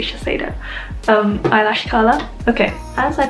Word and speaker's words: Shiseido: That's how it's spelled, so I'm gonna say Shiseido.